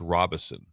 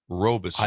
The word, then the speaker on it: Robison: Because I was talking to someone and someone goes, FYI on Joey, it's Robison. And I've always said Robeson. I have said Robeson my whole life.